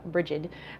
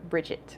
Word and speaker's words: Brigid: it's definitely connected to some people pronounced a brie some people pronounce it her name bridget or bridget so which actually is